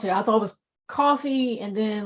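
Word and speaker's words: Ko-fi: and buy me a coffee I'm I'm cool with that too how does is how you pronounce it uh I think it's pronounced coffee but I always say Kofi so that people like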